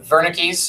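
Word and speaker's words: Wernicke: know let's tell bu but Verna Keys is how you say it a vernix area and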